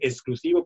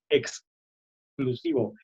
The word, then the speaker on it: exclusivo: Los sonidos X también, hay que marcar bien la X, no que no se escuche como S. Mucha gente dice exclusivo cuando es exclusivo, extraordinario.